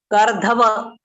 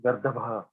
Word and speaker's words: गर्दभ: Now I'll see who can pronounce. What is this? Gardhava. Gardhava. Huh? गर्दभ Gardab. Gardab. Gardab. गर्दभ Gardab. Gardabha.